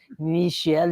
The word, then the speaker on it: Michel: It's Michael. He pronounces it Michael, although as you know, my series says Michel Bryant, like a Bryant here.